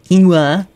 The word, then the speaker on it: quinoa: Anyway, apparently the word is quinoa. I'm just going to say it like that now, to make fun of it.